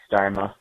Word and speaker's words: Starma: per your request um I'll tell you how to pronounce my name um it's starma you had it right man so no worries